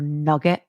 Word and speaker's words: nougat: Okay, so the whisking tasting notes: fresh croissants, summer fruits, nougat or nugget as I would pronounce it, white grapes, and okay.